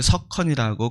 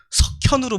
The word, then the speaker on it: 석헌: 그래서 또 집에 형제가 헌자 돌림이기도 하고 마침 잘 돼서 이름을 석헌이라고 그렇게 지어주셨습니다. 근데 발음하기가 상당히 어려워요. 지금도 그래서 다 제대로 부르시는 분들이 별로 없어요. 처음 만났을 때 10중 8구 석현으로 부릅니다.